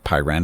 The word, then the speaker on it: Pyrene: This is late age, and we're taking a look at the new faction that came out this week, which is Pyrene, I believe is the way it's pronounced.